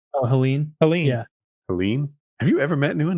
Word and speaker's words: Helene: Cat 4 hurricane I don't know this word Helen H e l NE e oh Helen Helen yeah Helen have you ever met anyone named Helen my